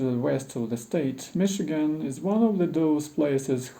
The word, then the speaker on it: Michigan: one of those places whose French presence in its history is betrayed by the salt CH sound in its name it would have been spelled with an essay if the British got there first as would Chicago for